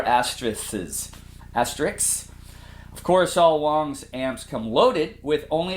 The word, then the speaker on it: Wangs: this should be a wongs hd15 wongs amplifiers are made in China just like most others you would think it's pronounced wangs but it's Wongs and the description on